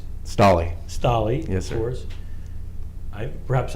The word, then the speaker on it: Stolley: Stolley. Yes, sir. Of course. Perhaps I mispronounced your name before.